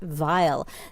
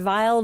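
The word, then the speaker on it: Weill: often written by Curt Vile. That is another uh rabbit hole you can go down on YouTube. Kurt Vile. Vile is spelled W I L.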